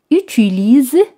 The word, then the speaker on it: utilisent: Les gens utilisent, como veis, ONT no se pronuncian.